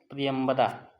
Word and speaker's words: प्रियंवदा: है प्रिय बंदा प्रियव्रता इसका शुद्ध उच्चारण होगा प्रियंवदा जो प्रिय वचन बोलने